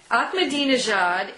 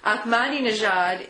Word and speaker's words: Ahmadinejad: Ahmadinejad is how I've heard government officials and diplomats pronounce his name. And, so I take your pick of those 2.